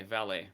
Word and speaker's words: valet: ballet valley okay um it's a french word i think it's spelled v-a-l-e-t that's why it throws me off but yeah yeah yeah valet valley okay french has a